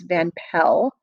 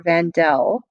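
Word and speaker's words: van Pels: But their actual name, their last name was Van Pell or Vandel, depending upon which way you are pronouncing it.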